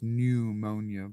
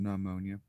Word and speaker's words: pneumonia: Pneumonia is pronounced pneumonia, but yeah, a lot of people pronounce it nummonia.